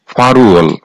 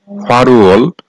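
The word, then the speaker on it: 팔월: মাস তথা আগস্ট মাস ফালল এর সঠিক উচ্চারণ হবে ফারুয়াল ফারুয়াল আগস্ট মাস কুয়েল কু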